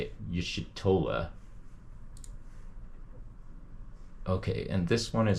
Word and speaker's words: Y'shtola: Y'shtola.